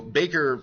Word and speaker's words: Baker: or one representative each so Baker or I've always heard to pronounce backer versus Carr and Reynolds